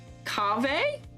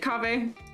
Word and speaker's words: Kaveh: We have Kaveh.